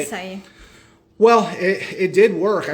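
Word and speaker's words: açaí: Yeah, acai.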